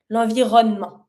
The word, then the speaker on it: l'environnement: When you say it pretty fast, like in a conversation with it, then just slightly pronounce the E, l'environnement.